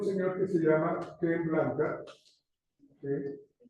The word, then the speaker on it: Blanchard: El libro es Gunjo a la carga, de Ken Blanca, se escribe Blanchard, se pronuncia Blanca, y es un texto supremamente interesante.